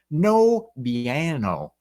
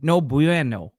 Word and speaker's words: no bueno: It's like a W. No bueno.